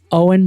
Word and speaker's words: OWYN: Owen brings together the essential elements of advanced nutrition, amazingly clean ingredients, functional superiority, and uncompromised taste.